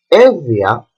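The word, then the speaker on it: Εύβοια: Or when there is the letter beta, like evia, evia is a very big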